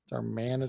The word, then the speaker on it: Darmanitan: I got a darmanitan darmanitan there you go we taught George to trick to saying darmanitan it's just to say it like a cowboy yeah but I've uh